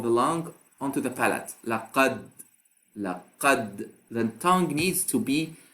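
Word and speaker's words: لقد: So up till now, I just pronounced the letter, but I did not apply the qalqala. When I say laqad, I did not apply the qalqala yet, but I pronounced the letter correctly.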